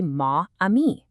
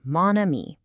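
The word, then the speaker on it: mon amie: that my friend would be ma amii, right? But that a a sound is exactly what French avoids. So we swap ma for ma to get moni. It just sounds better and it's the correct way to say it.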